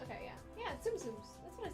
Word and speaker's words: Tsum Tsum: we can talk about it through email they're pronounced tsum tsums okay yeah yeah tsum tsums that's what i said watching other orders we